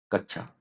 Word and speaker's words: कक्षा: react पसंद करते हैं कक्षा शब्द का शुद्ध उच्चारण है और ऑप्शन से कच्चा कछुए कक्षा कक्षा ढ कि इस कछुए आपको बताना है और इसका शुद्ध उच्चारण कक्षा यह हमारा यहां पर राइट आंसर है कछुए होगा